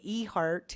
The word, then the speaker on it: Ehardt: your name first absolutely it's uh traditional and e-heart is spelled e h a r d t good excellent so again